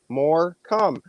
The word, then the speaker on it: Morcombe: pick on me and split into two syllables and you can figure it out pretty easily more come you didn't take much